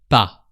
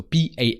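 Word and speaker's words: pas: is the small word PA so p a s but the S is silent because it's the last consonant of the word so just PA and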